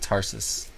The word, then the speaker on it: Tarsus: You said Tarshish instead of Tarsus.